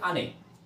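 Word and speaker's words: 兄: করা যাক ধৈর্য সহকারে ভিডিওটি দেখবেন প্রথম হচ্ছে আনে আনে হচ্ছে আনি আনি যে কথাটার অর্থ হচ্ছে আনি হচ্ছে বড় ভাই আমি উচ্চারণটা লিখে দিছি এখানে উচ্চারণ বাংলায় উচ্চারণ আনি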